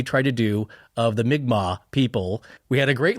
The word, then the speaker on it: Mi'kmaq: to do of the Mi'kmaq people, we had a great listener, Mr. Jordan Bones, write in saying like, well, you guys are close, but it's actually Mi'kmaq.